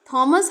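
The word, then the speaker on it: Thomas: TS Elliott and थॉमस Hardy या टॉमस Hardy, इनको आप जो कुछ चाहें, दोनों प्रोनाउंसिएशन सही है, थॉमस एंड टॉमस, दोनों में से कुछ भी पढ़ सकते हैं, हालांकि मैं तो थॉमस ही पढ़ती हूँ।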